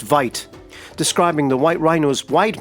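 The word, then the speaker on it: wyd: is that it was derived from the afrikaans word for wide pronounced vite describing the white rhino's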